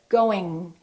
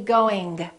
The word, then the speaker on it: going: So when you produce the G, let the G just kind of stay there. Going, going, going. Don't release it. Don't say going. At the same time, some people think they don't have to pronounce the G, and then they just produce the N before the G, and they produce it in the front of their mouth, and they say going, doing.